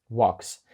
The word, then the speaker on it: walk: walks і по-друге там є літера L яка не вимовляється Тобто це W а не Walk Walk ще є схожим слово Talk говорити там так само літера a та L і вони не ви Тобто L взагалі не вимовляється а a вимовляється як